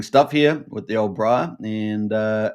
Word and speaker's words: Briah: Um, so yeah, it's uh, we're seeing some really interesting stuff here with the old Briar and uh, it's a good chance.